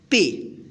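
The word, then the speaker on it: pay: पे। तो इसका पूरा हम उच्चारण करेंगे पे।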